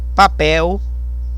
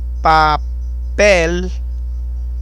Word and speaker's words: papel: Por exemplo, aqui nós temos papel, papel, o forte é no pel.